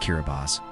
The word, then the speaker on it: Kiribati: Meet Kiribati, pronounced Kiribati.